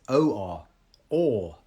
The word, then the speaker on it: or: It's the same pronunciation as or, exactly the same.